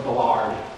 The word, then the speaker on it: Ballard: Ballard's A New Wave Ballard, or Ballard. If you want to say it right, you say Ballard.